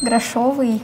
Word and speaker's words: грошовый: Ударение на букву Е. Каталог на О. Согнутый на О. Грошовый на О.